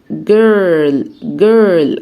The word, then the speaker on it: girl: بنت يعني girl. حرف الجي هنطقه جه، والاي ار اتفقنا اللي هي زي bird، زي كلمة bird، تحسيها كده girl.